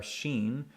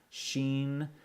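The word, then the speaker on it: שין: alright and here are Sheen if it the dot is on the right hand side it makes a SH sound okay like shud i should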